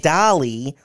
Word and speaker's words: DALL·E: ripoff character and Wally I said not Wally but not Wally but dolly is a website uh no but it just spelled the same no not spelled the same way pronounce the same way